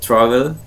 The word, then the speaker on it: traveled: It traveled.